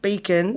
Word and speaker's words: Bechan: new zealand candidate 2021 so and it's pronounced beacon b c h a n yeah but it's about with h right and and you've and it's beacon what came after that mrs universe right 10